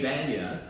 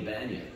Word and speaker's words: Bania: didn't practice enough um Kenny Banya which is interesting because we pulled up here and on the Marquee he has up there performing tonight Kenny Banyan well he did on